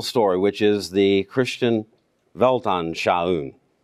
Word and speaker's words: Weltanschauung: We shouldn't forget the big biblical story, which is the Christian Weltanschauung. That's how I pronounce it, at least. The G being silent in Weltanschauung.